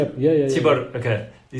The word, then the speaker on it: Tibor: Tibor, okay.